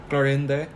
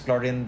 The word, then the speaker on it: Clorinde: Clorinde. Clorinde. Is that her name? Yeah, her apparently her name is Clorinde or I don't know how to pronounce it.